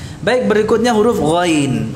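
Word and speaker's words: غ: Huruf ghain ini juga mirip dengan kha, ya, karena kesamaan makhrajnya, sama-sama dari ujung tenggorokan. Hanya saja yang membedakan antara ghain ini dengan kha apa? Ghain itu jahr, majhurah, sedangkan kha mahmusah. Ya, ghain ini diucapkan dengan menahan udara, nafasnya ditahan.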